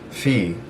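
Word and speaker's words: فيه: it's actually just pronounced fee it's actually the same as just fee essentially i would say that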